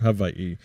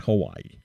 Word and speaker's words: Hawaii: my heart the islands of Havi pronounced Havi not Hawaii so I think it